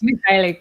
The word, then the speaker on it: Mikhailik: So I wanted to introduce you guys to Yevgeniya Mikhailik. I always hope I get that name right. Did I? For the last Mikhailik, yeah, the K is silent.